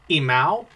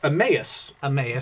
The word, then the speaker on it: Emmaus: yeah so we had to look up the pronunciation of this because i don't know why i've always thought it was um imal which sounds like a dyslexic cat having trouble um it's emmaus emmaus is the pronunciation but yeah i've always